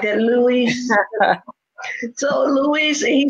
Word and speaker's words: Luis: I love to say it like that, Luis.